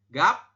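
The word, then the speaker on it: 값: Oke berarti yang ini dibacanya gimana dibacanya menjadi gap gapsi betul gapsi seperti ini teman-teman ya Nah Anda membacanya seperti ini ya silakan lihat perbedaannya ya kalau yang gap ini empat huruf dibaca hanya tiga saja Oke hanya gap saja tetapi apabila ada tambahan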